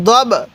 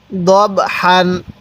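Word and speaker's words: ضَبْحًا: এই বা এর সাথে দব দত লাগবে এই বা এর সাথে দব অনেকে দাব পড়ি না এরকম ভাবে পড়বো না তাহলে কিভাবে পড়বো দবর দব হা আলিফ দুই জবর হান দব হান দব হান এখন এই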